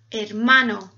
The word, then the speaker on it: hermano: because is silent so every time you read a word with h you just ignore the h baby what do you